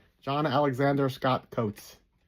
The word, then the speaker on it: Coutts: John Alexander Scott Coates. I think that's how you pronounce Coates. Coutts.